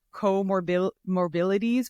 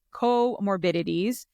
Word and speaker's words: comorbidities: of me and I I always call it coor morili but it's comorbidities so we're going to talk about PCOS comorbidities and bariatric surgery together um and kind of what we mean by comorbidities for those who don't know um comorbidities are